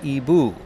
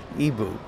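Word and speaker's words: Igbo: IG Bo right so that to me sounds like big Bo but they pronounce it EBU yeah EBU well here's the interesting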